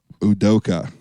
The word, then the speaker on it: Udoka: I'm going to have you help me out with this last name pronunciation. So LeBron got into a scrap with Ime Udoka. Udoka.